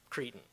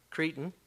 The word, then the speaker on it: cretin: It's, I guess the British actually use it more than we do, but it's C-R-E-T-I-N, Cretan, or I've heard it pronounced Cretan as well.